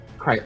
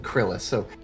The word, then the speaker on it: Kryus: Mew that we saw, how do you pronounce that name? Kryus. I just wanted to make sure it wasn't Krillis. Kryus, they were very unhappy